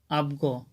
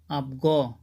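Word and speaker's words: αυγό: বর্ণ যদি আলফা এপসিল পরে থাকে তখন এর উচ্চারণ হবে আপ ব্যাস আপনারা স্ক্রিনে দেখতে পাচ্ছেন এখানে একটি শব্দ দিয়েছি আবগ এখানে আলফা এপসিলন এরপরে কিন্তু গামা এসেছে তারপর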